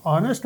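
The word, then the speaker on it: honest: इस्तेमाल होना था लेकिन जब हम इस लफ्ज को एच एन एसटी ऑनेस्ट बोलते हैं तो इसको नेस्ट नहीं बोलते एच साइलेंट है इसको कहते हैं एस्पायरेटेड एच एस्पायरेटेड एच यानी लिखने में तो एच आया बोलने में नहीं आया और इससे नेक्स्ट वल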